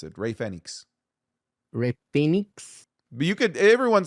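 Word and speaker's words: Fénix: e Phenix phix Phenix that's how you properly pronounce it Ray Fenix Ray Phoenix you could everyone says Ray Phoenix but it's Ray Fenix according to who to the literal Spanish language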